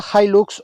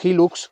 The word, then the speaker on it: Hilux: Es el Toyota Hilux o Hilux, como lo queráis pronunciar, según en qué continente estéis.